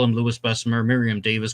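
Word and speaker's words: Louis Besumer: mean I call him Lewis besser Miriam Davis called him Lewis besser because his Heritage was not French it was polish and you know he's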